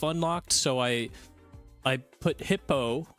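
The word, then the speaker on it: Hippeaux: So I I put hippo hip hippo. It's spelled hi p e a u x.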